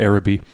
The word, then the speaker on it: Arabi: I've heard it pronounced either Arabi or Arabi, so we might fluctuate between the two.